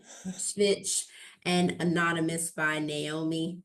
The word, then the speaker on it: Svich: Svich. Svich, and Anonymous by Naomi.